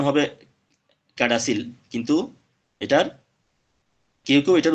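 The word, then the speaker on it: CADASIL: যে ডিজিজটা নিয়ে আলোচনা করতে যাচ্ছি সেটা হলো ক্যাসেডেল এটার যদিও বা উচ্চারণ হবে ক্যাডাসিল কিন্তু এটার কেউ কেউ এটার উচ্চারণ করে ক্যাসেডেল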